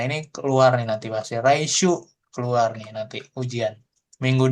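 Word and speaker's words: 来: Nah ini rai dibacanya bisa rai bisa kimas datang kuru ya kan.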